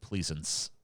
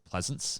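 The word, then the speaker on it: Pleasence: great by um U Don Pleasant Pleasants I for I don't know how to pronounce his last name but he's a great actor um it's Pleasant he did a lot of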